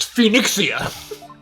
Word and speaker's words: Phoenixia: It's pronounced Phoenixia.